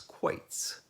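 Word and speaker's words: quoits: what that game is it's spelled q u o i t ts quaits see if you can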